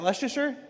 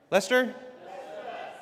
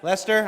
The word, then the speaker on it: Leicester: Is that Leasher? Lester. Lester.